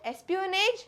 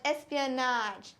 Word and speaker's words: espionage: Espionage no I'm wrong in UK the correct pronunciation is esaj it is NJ espan and in us it is espan espan means both of them are same it is not n it is NJ NJ it is not Espionage it is